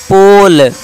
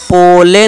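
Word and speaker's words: pole: जैसे कि एग्जांपल देखिए पोल, पोले नहीं पोल।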